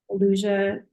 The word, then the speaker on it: Eleusia: My individual coaching practice, Elusia Psychedelic Integration Coaching. It's spelled ELEUSIA.